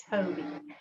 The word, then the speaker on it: Tobii: um a communication device called the tobii and it's spelled t-o-b-i-i toby um toby's are now much smaller but again